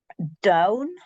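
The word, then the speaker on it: donn: Down. Down. The double N makes it O into an ow.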